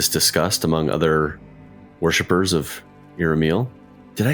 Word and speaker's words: Iramiel: These dreams that people are having in the city, are they coming from Iramiel? Iramiel? I always say it wrong. She said, you had it so good the first time.